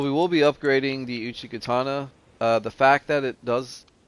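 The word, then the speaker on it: Uchigatana: Now the Uchikatana, that's how it's pronounced.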